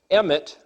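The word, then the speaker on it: אמת: The word Alef Mem Tav is pronounced in English emet, which is the word truth. So the word emet is the word truth,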